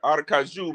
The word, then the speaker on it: Aracaju: So, Aracaju, man, I can finally say it right after the 50 million time. I had to get that J right. You know what I mean? The Kaju.